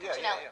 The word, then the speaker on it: Cuccinelli: Oh, Ken Cuccinelli, yeah. Yeah, Ken, is that how you say it? Cuccinelli.